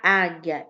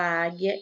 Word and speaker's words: águia: essa bara tchau pronunciar águia e formigueiro né aí ó a letra o som da letra u não é pronunciado quando a gente fala águia e formigueiro só é a pronunciado